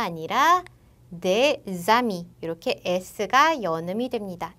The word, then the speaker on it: des amis: 얘도 보면 des amis가 아니라 des amis 이렇게 s가 연음이 됩니다. s가 연음이 될 때는 s가 아니라 z 발음으로 연음돼요.